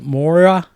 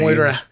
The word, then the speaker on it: Moira: as uh Ted said, DB Sweeney and uh Mora Kelly. Yep. Did I say her name right? I guess cuz I'm I'm horrible at names. Moira Moira.